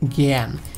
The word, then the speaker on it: জ্ঞানী: যেমন দেখেন এটা কি শব্দের শুরুতে রয়েছে, এটা কি শব্দের শুরুতে রয়েছে, এই জন্য এর উচ্চারণটা হবে জ্ঞান, জ্ঞান।